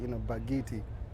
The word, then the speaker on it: Bakithi: It sounds like a D on the end. Yeah, it's Bakithi, So but a to T. pronounce the T, it's like, it's like a deep G, Bakithi.